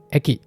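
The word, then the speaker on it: 駅: Kunyominya eki. Contohnya, eki no deguchi, pintu keluar stasiun. Dan ekiing. Kalau ekiing, petugas stasiun. Ini juga kurang lebih sama, biasanya dia akan digunakan sendiri. Jadi bacanya eki aja.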